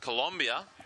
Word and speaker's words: Colombia: in car in Colombia and it's pronounced Colombia Colombia that's right 15th to 19th of